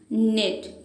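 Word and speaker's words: knit: बुनना, निट, इसमें के साइलेंट है।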